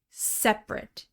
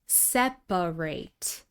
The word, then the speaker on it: separate: Here we're using the adjective separate, separate. Two syllables, and this vowel in the second syllable is reduced to schwa. This is different from the verb separate, separate. This word has three syllables, and notice that we don't reduce the vowel in the final syllable.